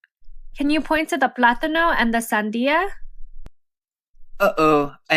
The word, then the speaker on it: plátano: Plátano. Remember that when pronouncing this word, you want to put emphasis on the syllable with the accent. So it should sound like plátano.